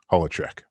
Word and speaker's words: Holecheck: Daniel Lesoeur from Eurocine, I decided I was going to take it back. And now it is pronounced Holecheck. Because I was about to